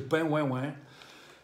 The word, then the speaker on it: De Pen Houa Ouian: En het heet de Scottish de Pain Wain Wain. Zo uitgesproken, Pain Wain Wain.